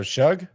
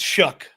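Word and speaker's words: Shough: Oh, Shug. Yeah, it's it's Shuck. How, buddy? I asked the same question when he played for Texas Tech. It's just, you know, how people will have a pronunciation and they just make it up. S H O U uh he's he's below Jaylen Reed and uh and he's in front of Makuba, who I think's underrated. Um, how is H O U G H? Shuck.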